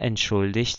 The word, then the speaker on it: entschuldigt: Então, aqui é Er entschuldigt sich, er entschuldigte sich, er hat sich entschuldigt. Ok? Então, esse G aqui também com som de CH.